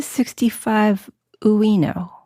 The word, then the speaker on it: 65uino: Okay, so what's the 65 Uino?